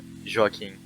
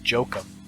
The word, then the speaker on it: Joaquin: personally call it uh joaquin yeah i think that's the um the the spain pronunciation if i'm not mistaken it's um any like south america or latin america in general because i know there was one where it was jokim was southern american and i was like oh that's terrible yeah i hate it